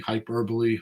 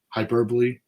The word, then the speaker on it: hyperbole: not some marketing hyper hyperboy how do you say that word hyperbole that's good we're not we're not